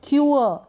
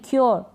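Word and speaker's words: cure: आप पढ़ देंगे क्योर। क्या पढ़ देंगे? क्योर क्यूअर क्यूअर नहीं क्योर। क्योर क्योर तो थोड़ा उच्चारण पे आप ध्यान दें।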